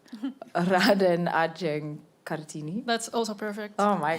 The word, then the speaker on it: Raden Ajeng Kartini: I'm not going to pronounce correctly. Raden Ajeng Kartini.